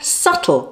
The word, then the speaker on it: subtle: with its silent I, or subtle with its silent B.